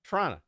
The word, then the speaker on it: Toronto: I said it correctly it's not Toronto it's Toronto Toronto or if you really want to get uh into it shrana Trana I worked at the